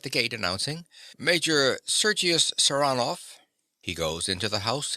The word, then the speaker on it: Saranoff: him round this way he pronounces the name with a stress on the second syllable sanov Nicola yes sir he